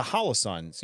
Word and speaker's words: Holosun: So the Holosuns, I was talking to somebody, I think it was today, actually.